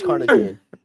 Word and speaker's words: carnitine: at saying things no it is cartine that's how you say it cartine did I say